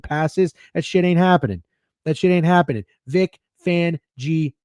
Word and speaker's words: Vic Fangio: Vic Fangio. 4 syllables, bitch. 2 words, 4 syllables.